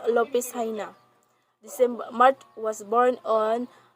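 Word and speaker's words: López Jaena: so next is graciano lopez china so graciano lupisina in tagalog pronunciations lopez china december mart was born on december 18 1856 and died on january 2018 96.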